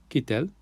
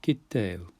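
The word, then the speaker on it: קטל: So to go back to our little word there, kitel. Not kitel, but kitel. We rest on that middle letter so that it's thicker, if you like.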